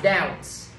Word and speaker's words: doubt: Thì các bạn nhớ chữ bờ này là bờ cá mà ha. Sign là D, không đọc là doubt. Chỉ đọc là doubt thôi, bởi vì bờ bị cắp.